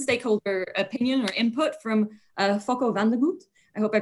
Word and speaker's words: Fokko van der Goot: My name is Fokko van der Goot.